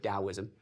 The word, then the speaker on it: Taoism: our lecture today okay taoism is sometimes spelled with a d and sometimes spelled with a t the t is an older romanization the sound has always been a d so it's Taoism after that excavation at